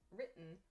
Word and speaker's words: written: of the word but native speakers don't pronounce the t sound clearly like i just did instead we say important written mountain this has like an apostrophe sound almost so important important important we drop the t sound or it sounds very soft so this is how